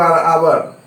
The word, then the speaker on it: hour: अब है HOUR आवर, यहाँ H साइलेंट है तो इसका उच्चारण होगा आवर।